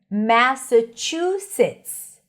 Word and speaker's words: Massachusetts: Massachusetts. When you see a long word, just always focus on the primary stress. In this case, it's chew, chew, chew.